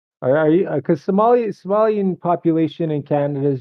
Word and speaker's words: Somali: you serious if you keep on calling me Somalian I thought you were Somalian I corrected it's pronounced Somali Somali man get it right dude